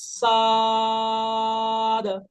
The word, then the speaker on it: ص: সদ ছা আর দ এরকম এই যে ছাই বা ফালা আর এখানে দ সাদা সদ এটা এটা হবে সাদ